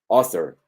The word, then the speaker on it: author: serena, muy relajada, O, author, author, author, primera sílaba acentuada, tiene su curva O, segunda plana y rápida, author.